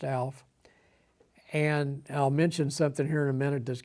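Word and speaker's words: Aleph: is Alf a l e p is is pronounced Alf and I'll mention something here in a minute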